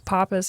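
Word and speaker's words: Pappas: you're telling me and he was like, "No, it's Papus." And I was like, "It's Papus." Cuz I said it's Papis. That's right. And that's exactly how it should be.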